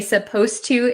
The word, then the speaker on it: supposed to: suppose and supposed to when we say supposed to it sounds like the D disappears but it's actually still there so be careful with that one okay